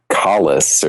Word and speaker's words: Kalos: Although I think we're pronouncing that wrong, because I started watching the X and Y anime, and they pronounce it like Kalos or something like that.